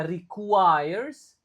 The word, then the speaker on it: requires: Oke, sori sori u-nya tetap dibaca di sini requ. Lalu i-nya dibaca I. Jadinya requires. Reques. R-nya enggak begitu diucapkan jadi lumayan susah.